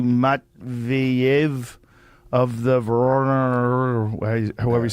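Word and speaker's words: Воронеж: It's Voronezh.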